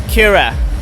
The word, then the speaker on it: Kyrre: It's Kyrre. It's Norwegian. It's hard to pronounce.